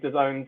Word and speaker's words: DAZN: boss at the time uh we went to the zone's headquarters and literally the first thing which is